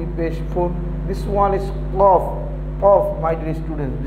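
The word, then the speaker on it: ق: This one is Qaf, Qaf. My dear students, this one is Qaf, not Kaf.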